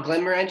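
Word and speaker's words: Glenmorangie: Glen Morangi is like having a peat in your mouth. And I said it wrong, didn't I? No, not at all. Glen Morangi is exactly right.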